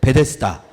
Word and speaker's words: 베데스다: 베풀다 이런 뜻이에요 헤세드 베이트 헤세드를 한번 빨리 발음해 볼게요 1초 안에 자 1초 안에 베이트 헤세드를 발음해 보는 거예요 하나 하둘 셋 베데스다 이렇게 되는 거예요 억지 억지가 있다고 느끼실